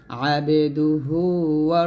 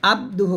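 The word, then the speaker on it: عبده: আন্না মুহাম্মাদান মুহাম্মাদান মুহাম্মাদান আবেদুহু রাসুলু বাংলা উচ্চারণ দেখুন আল্লা ইলাহা ইল্লাল্লাহু ওয়াহদাহু লা শারিকালাহু ওয়া আশহাদু আন্না মুহাম্মাদান আবেদুহু রাসুলুহু এখানে আব্দুহু বলবেন না এরকম বলবেন আবেদুহু এরকম পড়তে হবে কালিমা এর অর্থ কোন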